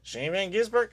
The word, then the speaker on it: Shane Van Gisbergen: Shane Van Gisbergen?